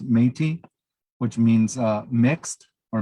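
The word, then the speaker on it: Métis: term uh phonetically it looks like it's a metis but it's pronounced metis which means uh mixed or mixed blood you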